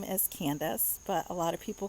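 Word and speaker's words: Candyce: is about two candies i my name is candace but a lot of people call me candy so my name is spelled c-a-n-d-y-c-e um so a lot of people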